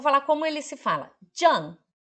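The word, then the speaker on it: 站: Jan. Jan, ele é quarto tom Z-H-A-N.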